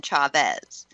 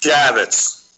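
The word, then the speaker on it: Chaffetz: That was the letter from Chairman Jason Chavez. Um, Chafus, excuse me. I hate that I mispronounced this. Chavitz. Chav. Chavitz.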